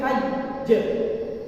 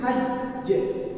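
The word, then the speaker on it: حجّ: Nah, jim di sini dikatakan qalqalah akbar karena berada di akhir ayat atau waqaf dan mempunyai tanda tasjid. Cara bacanya yakni hajj. Dijeda untuk menyempurnakan bunyi tasjid, kemudian memantulkan huruf jim hajj.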